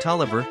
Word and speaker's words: Taliaferro: this is the Springfield Log Cabin it was built as a school for blacks in the Springfield community of Taliaferro pronounced Tolliver County and operated as such from 1937 to 1955.